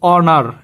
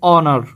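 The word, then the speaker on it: honor: অনার। এখানে দেখো শব্দের শুরুতে এইচ কনসোনেন্ট আছে। কিন্তু এইচ এর উচ্চারণ কি হইতেছে না। উচ্চারণ হইতেছে কার? ও মানে ও একটা কি? ভাওয়েল। ভাওয়েল সাউন্ড উচ্চারণ হইতেছে অনার।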